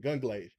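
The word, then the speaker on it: Gungrave: Gunglaive.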